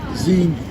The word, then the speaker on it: Xenu: Wait, is it Zenu or Zemu? Zenu. Zenu. It's Xenu. Yeah.